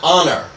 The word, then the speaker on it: honor: An honor yes we don't say 'a' honor. We say an honor because the H is silent.